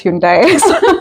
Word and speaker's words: Hyundai: So, we kind of just pronounce it as Hundai. The first time I came and I had someone say hund, I was like, what is that?